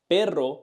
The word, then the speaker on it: perro: So, perro means dog, but pero means but. When we say perro, dog, we feel many vibrations. But when we say pero, we just feel one touch. When we say perro, dog, we feel many vibrations.